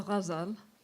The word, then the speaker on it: ghazal: It's a GH, which is much like Khalid, which you so beautifully pronounced and illuminated. So it is hard to pronounce. It's just a matter of knowing what we're striving for. It's really not a G, but it is. You have to soften it a little bit, almost like you're saying a J.